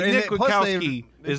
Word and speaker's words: Kwiatkowski: He's Nick Kwiatkowski. He will. Like it rhymes with Rob Gronkowski.